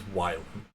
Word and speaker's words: Wylan: So it is Wylan and not I Wayland.